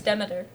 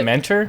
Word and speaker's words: Demeter: But yeah, like Dracula's The on Demeter. a Movie? That was Or it. Demeter. Yeah, Yeah. Demeter. yeah, something Demeter? like that. No, it's Demeter. Demeter? That's the Yeah. name of The the ship. Dementor?